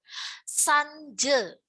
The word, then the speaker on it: sanja: Sanje, ya, sanje itu pengucapannya sanje, tetapi penulisannya sanja. Itu malam.